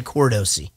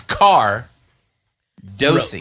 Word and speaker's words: Cardosi: Cardosi now I apologize for mispronouncing your name for almost how are you two months now I've been saying cord OC Gordo's yeah literally it's car dosing right so it's not you